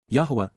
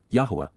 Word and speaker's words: Yahweh: of his father's appreciation for his son's service Yahweh Yahweh the proper pronunciation of the name of eloah God has